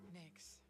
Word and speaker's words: Nyx: It's Nyx spelled with an X, by the way. Nyx.